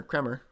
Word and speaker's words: Kremer: now dean cramer or kremer that's how you say his name he's not been bad